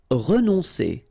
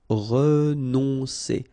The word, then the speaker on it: renoncer: Renoncer. Okay, O and N together. On, renoncer.